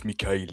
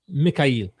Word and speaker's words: Mikha'il: Is it Mikha'il? It's Mikha'il, yes. Mikha'il.